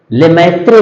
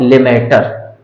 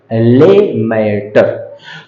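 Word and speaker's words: Lemaître: पूछा जाता है कि जॉर्ज लेमेटर लेममेट्रे भी कुछ लोग इसे प्रोनन्सिएट करते हैं। लेकिन एबी जॉर्ज लेमेटर, लेमेटर।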